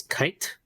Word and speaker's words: Cait: so like for me when I was small I pronounce it as kite kite kite yeah and then